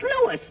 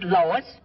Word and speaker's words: Louis: the plant Lois Lois my name is Lewis not Lois wait is everybody interpolates me name wrong it's Lewis l o u i s Lois ER Louise Lucy